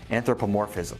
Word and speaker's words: anthropomorphism: with a hibernating bear oh and ps it's pronounced anthropomorphism if you really understand your target audience using